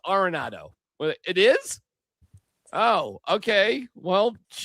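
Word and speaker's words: Arenado: Do you remember when we all had to figure out how to say Nolan Aronado's last name? Because we were saying Aronado and we all like, "Oh no, it's Aronado."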